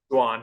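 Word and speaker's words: Jhoan: And then is it Joan Duran? How do you say his first name? Juan Duran. Juan Duran. Took a lot of practice to get that one down.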